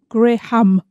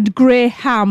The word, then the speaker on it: graham: got a hatred it I know I'm English I pronounce this gray hum I know it's got vanilla a gray ham look about this at